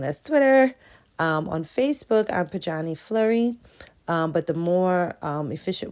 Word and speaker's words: Pojanee: I'm just saying, I pronounce it Pojanee, all right?